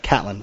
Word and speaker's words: Catlin: That's right, Catlin. Yeah, I didn't know if it was Caitlin or Catlin. I didn't want to say it wrong.